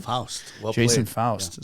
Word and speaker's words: Foust: Foust.